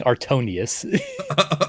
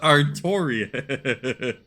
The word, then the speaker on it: Artorius: No, it's Artorius. You're You're reading that R as an N. So, you keep saying Artonius. Artorius.